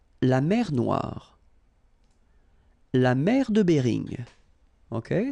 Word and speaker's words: Noire: Okay, then here, la mer Noire. Same thing here that we had previously. Final not pronounced, okay? And then OI, remember, wa, noir, noir.